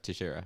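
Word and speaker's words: Teixeira: is he fighting glover yeah to share glover tahara tashira to shara that's what it is oh i thought joshera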